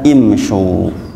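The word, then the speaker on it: امشوا: Tetapi ternyata dalam Al-Quran tidak dibaca umsyu, tapi dibaca imsyu.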